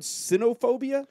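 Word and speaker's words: cynophobia: or something like that canop phobia is that what that's called uh I I I would pronounce this word sinophobia c yop phobia inter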